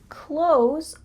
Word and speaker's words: clothes: Instead, when we speak in fast English, we often pronounce close a lot like close the door.